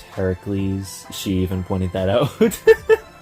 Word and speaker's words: Heracles: hates the Hercules movie quote unquote Hercules even though it should be pronounced Heracles she even pointed that